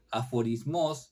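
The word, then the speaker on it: ἀφορισμός: griego, pero me imagino, de la voz griega aforismos, lleva acento en la última, derivada del verbo aforisein, o sea, definir o separar.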